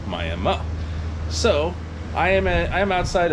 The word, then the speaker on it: Miami: am in miami oklahoma not miami it is spelled like as we all know miami florida but over here it's called miami so i am i'm